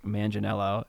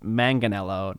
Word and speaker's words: Manganiello: one to meeting mark Manganiello is that his name is Joe not mark and his last name is pronounced Manganiello not Manganiello so you got to